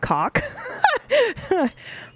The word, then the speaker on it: Koch: I'm gonna say it, but please know that I didn't realize it was pronounced this way until a friend of mine. It's Robot Cock. It's spelled Koch, I think.